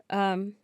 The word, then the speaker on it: aducanumab: aducanumab.